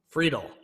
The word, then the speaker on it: Friedel: and Devon and Tyler Friedel Friedel pronounced free - dull okay let's give this